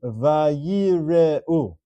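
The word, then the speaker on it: וַיִּירְאוּ: Example number 2, the word is vayire'u. 4 syllables.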